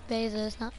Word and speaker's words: Bezos: about one minute so wait how do you pronounce his name jeff bezos yeah it's basis i hear some people sometimes it's a puzzle